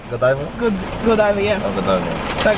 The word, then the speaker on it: Godiva: Godiva, yeah.